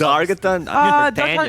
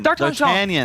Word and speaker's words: D'Artagnan: The Argeton, but that's D'Argeton. D'Artagnan.